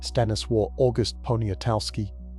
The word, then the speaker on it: Stanisław August Poniatowski: The last king of Poland, Stanisław August Poniatowski, pronounced Sta, Nii, Sław, August Ponia, Toff, Ski, was summoned to St.